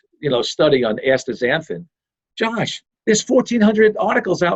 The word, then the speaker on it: astaxanthin: healthy aging, I really like the combination of astaxanthin and coenzyme Q10 together. Oh, it's interesting. That's interesting. This is the first time I'm hearing that. I don't want to try saying it right now, but astaxanthin.